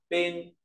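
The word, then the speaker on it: 冫: ta có bộ băng nói về băng giá đọc là ping p ping p lớp viết bộ chấm băng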